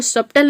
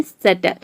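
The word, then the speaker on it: subtle: उसी तरह से यहाँ पे देखिए बी यहाँ पे साइलेंट है सटल। इसको सटल नहीं, इसको बोलते हैं सटल।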